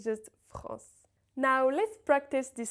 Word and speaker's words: France: So, for example, the word France is pronounced without any N in it. It's not France, it's just France.